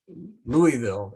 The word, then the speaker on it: Louisville: a louisville slugger and if you know about louisville it's pronounced louisville she said this too